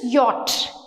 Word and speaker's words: yacht: Y, a yacht. YATCH, yacht అని నేర్పిస్తారు. YATCH pronunciation is yacht.